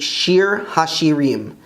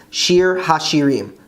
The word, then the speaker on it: שיר השירים: Canticles, or Song of Songs, is actually Shir Hashirim, Shir Hashirim, the Song of Songs.